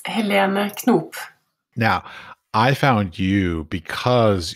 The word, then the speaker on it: Helene Knoop: could you please pronounce your name correctly for me it's Helena cop now I found you because you were a